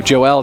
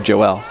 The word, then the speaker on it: Joelle: Alex tell us uh so Joelle does pronounce his name Joelle that's I guess the Hispanic way of saying it but people just say Joel but I just call